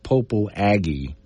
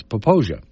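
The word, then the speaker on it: Popo Agie: you look at it, some people say it looks like Popo Aggie. But I would say Popo Aggie because it's spelled I-E at the end. But it's not Popo Aggie or Aggie. It's Poposia. And there's two separate words.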